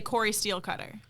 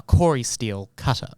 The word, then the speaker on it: Cori-Steel Cutter: You just want to say Cory steel cutter, but it is in fact a Corey steel cutter.